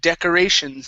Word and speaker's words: decorations: Let's go to decorations. Instead of decorations, D, it's short E.